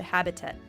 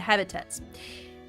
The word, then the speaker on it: habitat: so these are the habitat the habitats so this is how it's pronounced habitat habitat in American English sometimes you don't hear T at the end habitat or habitat habitat